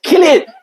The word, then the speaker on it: Cillian: It's Killian.